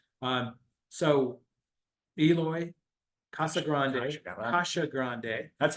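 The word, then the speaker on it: Casagrande: having last night um so Eloy Kasha Grande Kasha Grande that's how he pronounced it's true yeah we want to say we want to be respectful Kasha Grande excellent drummer Superior drummer um and I do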